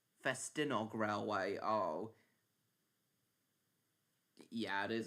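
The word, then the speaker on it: Ffestiniog: Oh yeah, and the Festiniog Railway completed a brand new double fairly in 2023.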